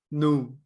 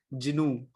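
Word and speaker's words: GNU: Here G is silent. That's why everybody that's why I've been calling it like no new not Jinu right so make sure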